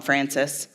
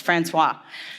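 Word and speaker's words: François: I just call him Francis. Francois. See, I call him Francis, Ed. I don't even know his name. It's Francois.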